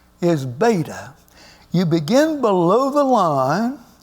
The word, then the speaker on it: beta: letter second letter is beta you begin below the line come up and you form what looks like an English B and it is simply pronounced like the be in Bat like the be in